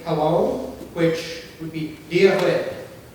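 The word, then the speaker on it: Dia dhuit: So to start off with, you'd say hello, which would be Diahwit. Diahwit, yes.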